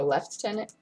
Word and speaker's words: lieutenant: my bad or a left tenant lieutenant british lieutenant but that's how they a lieutenant that's the british pronunciation are there are their